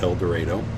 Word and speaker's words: El Dorado: That's the correct pronunciation, El Dorado.